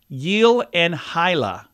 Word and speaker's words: Gyllenhaal: it should be Jake Gyllenhaal is surname is pronounced something like yel and hila oh he joked on Conan O'Brien that nobody